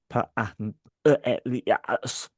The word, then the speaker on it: Pantelias: Pantelias. I think that's right. Yeah, it's if it's Greek, you pronounce every syllable. Pantelias.